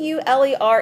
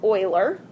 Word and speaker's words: Euler: show him it's Oiler it's because it's not English right this is not an English mathematician's name all right so this is Oiler a Comm penci all